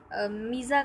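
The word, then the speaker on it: mesa: एज, 234 जो है उसको जनरली मीज़ा कहा जाता है, यानी मैसा, इसको मैसा भी बोला जाता है और मीज़ा भी, और इसकी प्रोनाउंसिएशन दो हैं और इसके दोनों के अलग अलग मीनिंग हैं।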